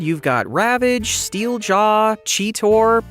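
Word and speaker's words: Cheetor: Over in the Transformers neighborhood, you've got Ravage, Steel Jaw, Cheettor, or is it pronounced cheater?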